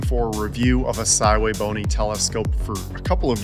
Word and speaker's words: SVBONY: a review of a saway bony telescope for a couple of years now and today the day and yes that is how you say it thway bony the SV 555 is